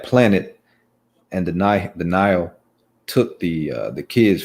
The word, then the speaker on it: Nihil: were saying not here no it's nile because i've the i mean the writers for the story have all called them denial like so i if they've pronounced it in the book nihil that's interesting because in all the interviews they've said now because it's like it's like a nihilist or nihilism that's the uh i